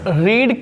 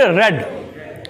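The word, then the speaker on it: read: आप समझ लो स्पेलिंग तो सेम होती है, रीड, रीड, रीड, लेकिन पढ़ने का जो प्रोनाउंसिएशन होता है, बोलने का, वो बदल जाता है। हमें कहना चाहिए रीड, रेड, रेड। क्या पढ़ेंगे, रेड। तो याद रखना रीड नहीं कहेंगे। A novel is being रेड, spelling वही है। अब रीड नहीं पढ़ते, इसको रेड पढ़ते हैं।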